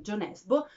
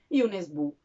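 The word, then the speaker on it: Jo Nesbø: molto amato che forse conoscerete come jo nesbo ma mi sono informata e la pronunciano roretese giusta è une e sbu quindi comunque abbiamo capito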